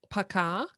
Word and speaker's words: пока: sort of like a, Paka? yeah, "poka" with stress. Poka. Hmm. But Okay. when O isn't stressed, it's pronounced as an A also, so it's basically "пока."